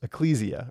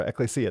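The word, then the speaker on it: ἐκκλησία: Remember, this is ecclesia or ecclesia.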